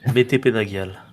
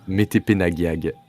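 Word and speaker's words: Metepenagiag: prononcé. Métépenagial. Métépenagiag.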